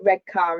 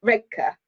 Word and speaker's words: Redcar: road from us, or to say it properly as a local, because you know Redcar is how I would say it as a southerner, but Redcar.